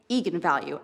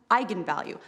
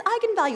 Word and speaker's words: eigenvalue: the director said yes that is how you pronounce it so i went out there and said that's right eagan value and then apparently the internet went nuts when it came out because apparently it's pronounced eigenvalue that's how you're supposed to say it and